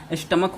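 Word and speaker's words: stomach: Alright, तो स्टमक, इसका सी एच से चो का यहाँ उच्चारण नहीं हो रहा है, इसका प्रोनाउंसिएशन स्टमक होगा, इसलिए यहाँ पे सिर्फ एस लगेगा।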